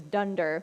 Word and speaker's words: dunder: under method is and I didn't hear it pronounced out loud until far too late so it is dunder which is very fun you have a method